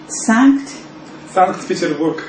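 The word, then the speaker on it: Санкт-Петербург: Sankt-Peterburg.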